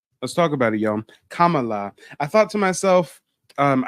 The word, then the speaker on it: Kamala: like we thought and her name isn't pronounced camela we butcher it we call it her camela no it's Kamala Kamala I'm a real black